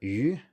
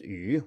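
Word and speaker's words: 余: The third character is yu, which also means I in classical Chinese. It can be pronounced yu with other meanings too.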